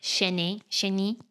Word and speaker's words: chenille: Do you want to show us your top 3 best, like chenille?